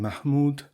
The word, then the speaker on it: Mahmud: Although, like Kufa and several other words, the last syllables in Mahmud, Harun, and Ma'mun are spelled with a waw, to have represented them by an o or o circumflex would have conveyed a wholly wrong notion of the pronunciation, which is like u.